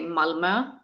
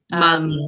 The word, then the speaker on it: Malmö: Well, the easiest thing was to just say Malmö. Malmö.